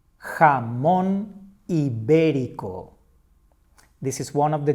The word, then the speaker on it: jamón ibérico: That is the point that we stress when we make the pronunciation. Now that you know this feature, let's try to read this other word. Jamón ibérico. Jamón ibérico.